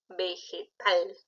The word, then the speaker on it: vegetal: peace es tan aguda vegetal tú dices qué tal o vegetal es aguda sí verdad si es aguda esto es útil a la tónica tal es su sílaba tónica porque no le puse